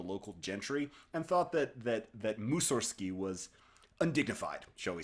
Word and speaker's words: Mussorgsky: of his life, it was simply Mussorgsky, no G.